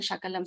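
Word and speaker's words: शकलम्: So sa and sha again, if you change the difference in the meaning. Then sakrit and shakrit. Sakrit means immediately, at once, at together, like at once, sakrit. Shakrit is cow dung. So just by changing sa to sha, you find so much of difference in the meanings.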